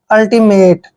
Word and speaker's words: ultimate: पढ़ते हैं पहले UL, अब इसको यूल नहीं पढ़ना है, UL को हम अल पढ़ते हैं, अल, ठीक है। और TI को टी पढ़ते हैं यानी कि अल्टी। और MA का उच्चारण मे करेंगे और TE को टे पढ़ते हैं, मेट, अल्टीमेट।